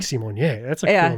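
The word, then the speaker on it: Symoné: Raven said her last name is pronounced Simonier.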